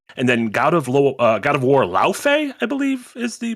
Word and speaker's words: Laufey: Wolverine from Insomniac, and then God of War Laufey, I believe is the pronunciation. Laufey.